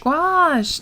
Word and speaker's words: gouache: it a break nah oh it rhymes with squash oh see i said gouache gosh now i know judith